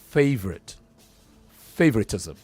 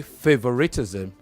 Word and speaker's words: favoritism: okay yes sir so how many syllables are that favoritism four if you say favoritism you've added one more syllable that does not exist it becomes favoritism five syllables but it's favorite favoritism okay yes sir good also